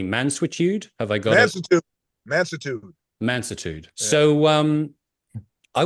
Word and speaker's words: Mansuetude: and I'm going to see if I can pronounce this correctly. Mansuetude? Have I got it? Mansuetude.